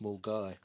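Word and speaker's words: Milngavie: in uh on the outskirts of Glasgow called Mgy. I think it's called Mgy. It was spelled like Mulgave, but it's actually pronounced Mulgai.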